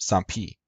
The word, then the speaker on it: sampi: Sambi. In classical Greek, this letter would be pronounced sampi.